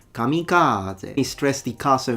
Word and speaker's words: kamikaze: Kamikaze. Kamikaze. He used two different pitch accents, so he changed it. The first time he said kamikaze, which is incorrect. That's not the right pitch accent.